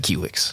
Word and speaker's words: Kiwix: Like 15 years ago, KiwiX, is it pronounced KiwiX or KiwiX? They are a company based out of Scandinavia, Norway, something like that. So it's who knows how they pronounce it? But when I was talking to Stefan, he said KiwiX.